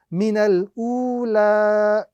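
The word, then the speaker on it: مِنَ الْأُولَىٰ: So the correct pronunciation of this particular word is minal ula. Minal ula. Again, we are not going to be reciting the alif, which comes in between the noon and the lam. Neither are we going to be reciting the ya, which comes at the end of the example.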